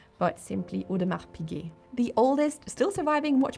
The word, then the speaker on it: Audemars Piguet: In Udmar Pig the S is silent. So not Udmar Pig or Udmar's PK but simply Udmar Pig.